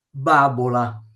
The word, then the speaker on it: babola: Vediamo con la B, babola. Babola l'accento sta prima, perché casca l'accento, babola, se no diventa babola.